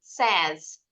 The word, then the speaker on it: says: Kalau ditambahin S, bacanya bukan says, tapi says. S-E-Z bunyinya. S-nya bunyinya seperti Z.